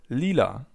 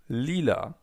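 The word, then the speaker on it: lila: Purple in German is called Leela. Leela. Imagine you're singing a song. Leela.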